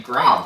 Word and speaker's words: graham: Do you guys pronounce the name Graham? Graham. Like G R A H A M. They might go Graham.